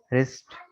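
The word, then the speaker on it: wrist: तो डब्ल्यू के साथ आर मिले आपको, तो डब्ल्यू आमतौर पर साइलेंट होगा। ठीक है, राइट, road, रिटन, राइटिंग, रिस्ट, rap, wrong.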